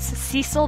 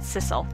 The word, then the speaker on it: Sissel: that's hmm yes Sissel I know it's Cecil but I've always pronounced it sicil you can blame reboot